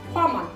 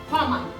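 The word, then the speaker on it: һаман: Хаман. Всегда все время ударение на первый слог. Хаман.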